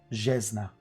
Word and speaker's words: Zesna: It is written Zesna, but in the language it's pronounced Jesna.